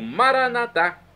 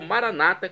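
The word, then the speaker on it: Maranatha: Agora eu clamo Maranatá, como dizemos nós católicos, ou Maranata, como dizem nossos irmãos separados das comunidades evangélicas ou protestantes. Não importa, a pronúncia e o significado é o mesmo.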